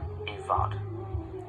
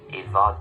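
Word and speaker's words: i bhfad: And as I said at the start of the video, ivad there has a V sound.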